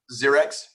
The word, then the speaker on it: Zxerex: How do you pronounce it? Your name? Zxerex.